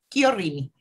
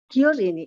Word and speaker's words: Chiorrini: No, con la CH en italiano se dice como K, Chiorrini. Chiorrini, ah, perfecto.